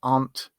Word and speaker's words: aunt: So we have small insect, ant, but we also have ant or aunt, depends on your pronunciation in English, which is your parent's sister. So like your mum's sister or your dad's sister would be your aunt. Very often it's just ant. I say aunt.